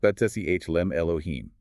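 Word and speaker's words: בצלם אלהים: The Hebrew phrase is Betselem Elohim, Betselem, pronounced Betsehlem Elohim.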